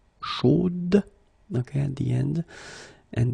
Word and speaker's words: chaude: Chaude. So here you pronounce the final d, whereas in the masculine form you don't pronounce it.